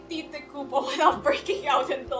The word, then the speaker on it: Tite: Okay, Tite Kubo is not his real name. It's a pen name. Um... It's pronounced like... It's pronounced like the English word tight, apparently.